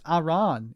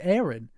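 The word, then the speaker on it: Aran: __ ] about that people like no it's aan it's Aaron um that's how they say it that's how Nintendo says it so that's how I'm saying it it's Samus Aaron anyway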